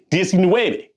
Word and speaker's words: diecinueve: Dueci, dieci, dueci, diecinueve.